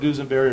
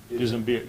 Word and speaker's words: Dusimberre: From conversations you've had, have you heard of, and is it pronounced Dusenberry? It could be. I've heard Dusenberry or Dusenbear. Dusenbear, yeah, yes, sir.